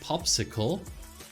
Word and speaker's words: PopSQL: have no visualization capabilities so popsql pronounced popsicle is great because it has